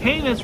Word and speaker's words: heinous: sent a series of heinous heinous heinous rhymes with Amos I think it's genius